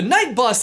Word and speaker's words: Knight Bus: The point is that the night bus isn't the night bus, but rather the night bus. Sorry, I should clarify with text on screen. That's night bus, not night bus. It's often hard to hear that silent K, but if you listen really carefully, it's in there.